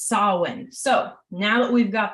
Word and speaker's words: Samhain: craft it is spelled s-a-m-h-a-i-n and it is pronounced salwin so now that we've got that out of